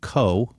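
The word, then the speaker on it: Cot: It's also called Co, which is spelled C-O-T.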